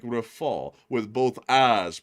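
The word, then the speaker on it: Rafale: And we also have a 20 from Joby who said the L at the end of Rafool means that it's pronunciated something like rafall with both a pronunciated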